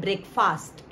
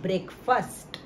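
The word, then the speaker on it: breakfast: ए एस टी फास्ट तो अगर हम इसे बिफर कट करके बोले तो ये है ब्रेक और ये है फास्ट तो हम कहते हैं ब्रेकफास्ट it's Rome pronunciation IT इस एन ब्रेकफास्ट आपको कहना है ब्रेक फर्स्ट देखिए फ्रेंड्स हम क्या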